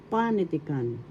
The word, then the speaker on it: panitikan: it bigcas in tagalog panitikan first syllable Second syllable, third syllable t and fourth syllable. The accent is in the first syllable panitican. That's how you say it panitican and literature in English.